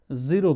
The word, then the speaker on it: ज़ीरो: ज़ीरो कहते हैं, ZERO। इसे अगर प्रोनाउंसिएशन में राइट लिखना चाहें तो इस तरह से लिखेंगे, यहाँ पे ये नुक्ता लगा करके, राइट।